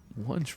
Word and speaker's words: Wunch: Remember when in the other episode he's like, "Wunch rhymes with lunch.